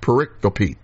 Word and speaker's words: pericope: a pericope now it's spelled pericope but it's pronounced pericope all right and the Isaiah 61 passage was